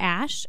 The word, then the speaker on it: Axe: Oh, and I did go to Ash, which is on Abbott Kinney. So it looks like it's spelled Axe, but they pronounce it Ash.